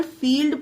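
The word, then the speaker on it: field: है पर यहां पर फील्ड पढ़ा गया ला आधा ला इसमें उच्चारण दिया गया है अब आप पढ़िए फील्ड तो देखिए ला की ध्वनि निकल रही है पर इसमें एल साइलेंट नहीं है क्यों नहीं है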